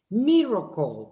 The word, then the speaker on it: miracle: How many syllables does the word miracle have? 3. 3. Miracle. So, the L, which is a dark L, is playing the role of a vowel and it is acting as a syllabic sound.